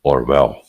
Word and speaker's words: Orwell: direta do Animals Farm, do Orwell, ou Orwell, que seria a pronúncia mais próxima, né?